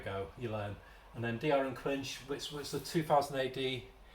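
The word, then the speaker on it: D.R. & Quinch: getting this PR he kept pronouncing it corre incorrectly call it the doctor and quinch but it's Dr and quinch and it's based I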